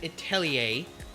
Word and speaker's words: Atelier: before, but Witch Hat Atelier, yes, it is pronounced that way because it is a French word.